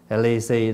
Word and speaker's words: lì xì: chữ là lì xì lì xì đó là mình phát âm theo tiếng Hoa bị gì ký cái